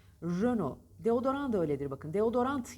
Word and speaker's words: Renault: bitişli kelimelerde test söylenmiyor mesela renodaki gibi Renault yazılır ona okunur üzen o bile değildir o Renault derler doğrusu Renault Renault deodorant öyle bir bakın